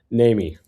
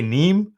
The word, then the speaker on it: Nehme: How do you say your last name? Namy. Namy, I was going to say Nee, but you see, I knew I was going to butcher it.